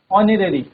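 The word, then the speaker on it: honorary: ऐसे ही ऑनरेरी। ठीक है? तो उसमें भी क्या है? एच साइलेंट रहता है।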